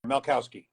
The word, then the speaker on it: Malkowski: Bob Malkowski. Is that how you pronounce it? Yeah, throw the K in there, Malkowski.